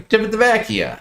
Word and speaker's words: Civitavecchia: You got to go Civitavecchia, I think is the right pronunciation.